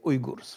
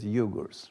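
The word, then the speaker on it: Uyghur: we in Poland tend to say Ur right yes is that uh correct does it sound like the real word or yes yes it does uh yes I I think that is the correct pronunciation okay cuz you get yugur right anyway that's a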